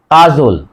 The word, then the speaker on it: কাজল: অর্থাৎ আ আছে, সে কারণেই মাঝের অযুক্ত ব্যঞ্জন বর্ণ ওকার হবে, কাজল, কা বর্গীয় জয়কার ল হস, কাজল, কা জল।